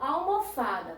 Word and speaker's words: almofada: Mas na palavra almofada, tá certo? Que não tem acento. Dá pra gente saber qual a sílaba tônica? Dá. Almofada, tá certo? Então, vai ser o quê? O Fá, tá bem?